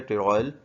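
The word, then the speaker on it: pteroyl: Vitamin B9 भी कहते हैं, विटामिन BC भी कहते हैं, विटामिन M भी कहते हैं, लेकिन और जो है टेरॉयल, P साइलेंट है, टेरॉयल L ग्लूटामेट भी कहते हैं फॉलिक एसिड को।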